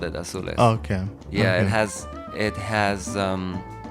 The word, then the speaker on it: Azules: Azules. Azules. Okay. Yeah, that's the way Okay. it's like it's in Spanish.